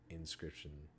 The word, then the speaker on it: Inscryption: So definitely, if any of that interests you at all, definitely check out Inscription. It's Inscryption, so it's spelled a little differently.